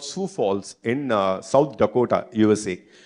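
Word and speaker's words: Sioux Falls: the full spelling is SEO ux but it's pronounced sou Falls in case if you are not aware City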